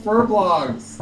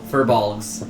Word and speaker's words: furbolgs: they're now cowboys what why do you call them fur blocks it's for bulk furbolgs yes it's for law oh